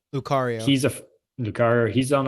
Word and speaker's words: Lucario: guys there uh like lusar uh lusario am i saying it right lucario he's a car he's